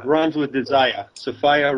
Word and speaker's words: Sophia: we're talking about the Sophia myth right the sopia myth as I call runs with desire sopia rhymes with desireah it's a little Gnostic Insider joke